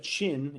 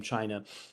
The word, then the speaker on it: Qin: 800 years and the state of chin it's spelled q-i-n but uh it's actually the root of the the name china uh the word anyway